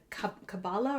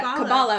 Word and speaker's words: Kabbalah: And then especially Jewish traditions, forgive me if I mispronounce this, but the Kabbalah or Kabbalah? Yeah, Kabbalah. I was right the first time.